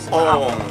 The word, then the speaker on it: Om: Itu dibaca O. Padahal itu sebetulnya membacanya adalah Ong.